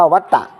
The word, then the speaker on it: วัฏฏะ: อยู่ 3 อย่าง วัฏฏะ วัฏฏะ นี้ ว แหว มหากะ ต ปฏัก 2 ตัว มห สระอะ นี้ อ่าน ว่า วัฏฏะ วัฏฏะ นี้ ก็ คือ